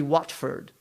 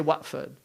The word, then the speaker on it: Watford: in england it's actually watford right but they say watford why because they don't pronounce the t if you go to